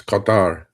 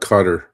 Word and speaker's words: Qatar: But uh exactly it's Qatar, not Qatar. I mean, you know, look, I do understand Americans pronouncing Iran because it's that I, right?